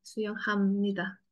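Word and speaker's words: 수영합니다: Suyong hamnida ya. Be-nya ini emang be, tapi bacanya me. Suyong hamnida.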